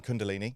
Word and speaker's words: Kundalini: And it's I love like this because I've um I've never done um Cundalini.